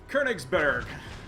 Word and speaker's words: Königsberg: I'm trying to pronounce it in my best German. I was just there in June. Even listened online after the Congo debacle on my review, so... Königsberg.